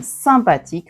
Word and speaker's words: sympathique: Sympathique. Et ici YM sympathique parce que devant un P, le N devient M.